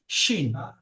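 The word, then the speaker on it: ش: কি মানে বাতাস বাতাসটা বার হয় বাতাসটা তবে উচ্চারণটা হয় কি শিন শিন শিন হলো কি শিন এমন একটা শব্দ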